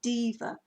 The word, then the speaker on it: deva: we call the flower diva now this is spelt deva it's the flower diva or spiritual essence of